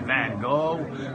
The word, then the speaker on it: Van Gogh: having an unpronounceable name the Americans say van Gogh British say golf and is probably every variation